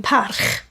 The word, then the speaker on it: Parch: been reading all day is Parch, but you pronounce it as Can you just say it again? Parch. Parch.